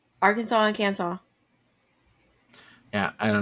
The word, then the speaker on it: Arkansas: that Arkansas is pronounced Arkansas and not AR Kansas yeah that one's with me a little bit before because it looks like it should be ar Kansas especially because Kansas exists like can you guys